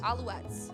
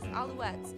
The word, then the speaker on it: Alouettes: the Montreal I don't even know how to pronounce it. Alouettes? Alouettes. Yes, that is. Alouettes.